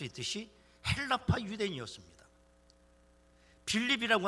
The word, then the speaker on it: 빌립: 빌립이라고 하는 말을 헬라어로 필립이라고 읽습니다. 그걸 히브리 발음으로 성경에는 빌립이라고 한 것입니다.